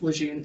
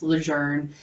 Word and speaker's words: LeJeune: and the fact that it's not actually pronounced legend it's pronounced legend and that we you